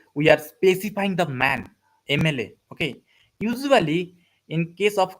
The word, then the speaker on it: MLA: Okay, and here also we are specifying the man, mla. Okay, usually in case of consonant we use what? We use a, but here it, while we pronounce it, we pronounce it like aim, aim.